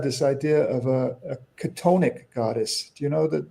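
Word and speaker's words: chthonic: So, well, it's it's spelled funny. It's spelled C H T O N I C. Katonic.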